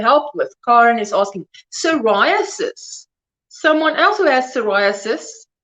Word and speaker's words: psoriasis: saturday there you go psoriasis you don't pronounce the p and hi everybody just